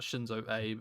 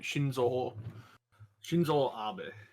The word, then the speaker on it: Shinzo Abe: Is it because it's certainly not Shinzo Abe, is it? No, you're right. Shinzo Abe.